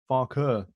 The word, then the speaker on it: Farke: How do you pronounce this, Mr. Ellsby? Daniel Farke. Farke. He's German.